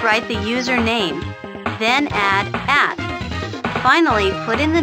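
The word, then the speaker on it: @: net is the name for an electronic post the symbol in the middle is pronounced like the word at it means that slow is located at the host kingdom.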